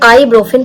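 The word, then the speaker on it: ibuprofen: ये जो आइब्रोफिन होता है इसमें पी साइलेंट होगा, ये ध्यान में रखिएगा, यहाँ पे ये आइब्रोफिन पढ़ा जाता है।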